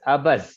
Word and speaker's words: Abuzz: It's Abuzz. It's abundant, so it's called Abuzz. It's like the bee buzzing with activity, and our company logo